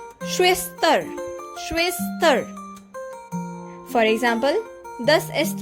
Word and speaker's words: Schwester: The German word Schwester means sister in English. And its pronunciation is Schwester.